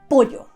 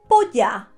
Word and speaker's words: pollo: When you go to buy some chicken is pollo.